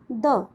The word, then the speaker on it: the: तो इसका मतलब यहाँ पर THE की प्रोनाउंसिएशन क्या होगी, द। क्लियर? अगर THE के बाद वाला वर्ड कॉन्सोनेंट साउंड से शुरू होता है, देन द pronunciation of THE will be short, which is द।